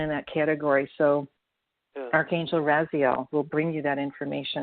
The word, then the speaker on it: Raziel: Raziel. It's spelled R-A-Z, R-A-Z-I-E-L.